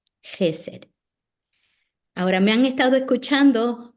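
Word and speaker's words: חֶסֶד: Es como jamón, jalapeño, jaguar.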